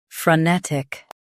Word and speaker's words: frenetic: Both US and UK have the same pronunciation of this word, frenetic. Now read the syllables shown on the screen naturally. Fr, n, tic, frenetic. Emphasize ne and keep tick quick.